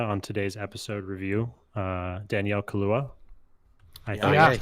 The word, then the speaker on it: Kaluuya: Did you guys see, speaking of Judas and the Black Messiah on today's episode review, Danielle Kaluuya? I think that's how you pronounce it. Yeah, Kaluuya.